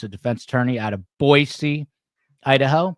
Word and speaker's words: Boise: defense attorney out of boisey Idaho pronounced with an S not a z like a lot of New Yorkers say boy uh but I was told to say boy C so that's how I